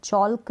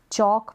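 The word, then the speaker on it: chalk: है वो साइलेंट है, चौल्क नहीं बोलेंगे, चौक प्रोनाउंस करेंगे, एल यहाँ पर साइलेंट है, CH का च उच्चारण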